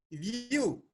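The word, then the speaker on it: ewe: That is U. U is not vowel sound. This is consonant sound.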